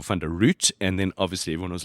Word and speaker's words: van de Ruit: and you know what I would be root that's what I was called at school root at my first geography class the teacher was going through mispronounced your name mispronounced for fund root and then obviously everyone